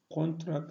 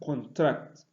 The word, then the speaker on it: contract: Moreover, there are some English words that are stressed on the first syllable when used as noun, and on the second when used as verb. For example, we have contract and contract, insult and insult, contrast and contrast.